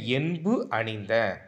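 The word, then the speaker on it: என்பணிந்த: என் பணிந்த தென்கமலை, இவ்வடியில் என் பணிந்த உணர்த்தும் பொருள். இது வந்து நான் தப்பாக உச்சரிச்சிருக்கேன். எப்படி உச்சரிக்கணும்னா, என் பணிந்த, என்பு கூட்டல் அணிந்த, என்புனா எலும்பை மாலையாக அணிந்த அப்படின்னு பொருள் தரும்.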